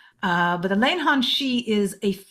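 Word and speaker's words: Leannán Sídhe: of before called the lanon shei now my Irish is not good I do not speak Irish that's what I think it's how I think it's pronounced it's spelled many ways uh but the lanan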